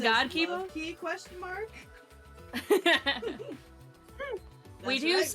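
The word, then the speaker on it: K1-B0: Oh, it's Kabibo. It's pronounced Kibo.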